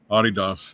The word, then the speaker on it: Adidas: Is it Adas? Adidas is the German pronunciation. That's how you say it in the German language.